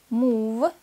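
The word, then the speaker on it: move: лава да в самом еще два слова исключения слова мува двигаться и прува доказывать здесь буква а у читается как долгий переходим к домашнему заданию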